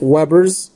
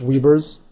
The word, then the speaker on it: weber: And the units for the flux, you can use, I've always pronounced it Webers. Okay? I've heard people pronounce it as Webers.